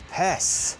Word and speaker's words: Užupis: So that was the mermaid of Pes. I'll pronounce it correctly this time.